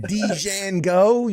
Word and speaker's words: Django: Why is there a D in there if you don't want me to say it? It's Django. It's a silent D.